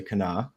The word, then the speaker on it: Kanawha: Charleston um on the Kanawha River it's spelled kanawa but you say Cana for those uh West